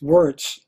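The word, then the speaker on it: Wirz: The troops were greeted by Sergeant Henry Wurtz, or sometimes pronounced Wurtz, who would later be the commandant at Andersonville Prison.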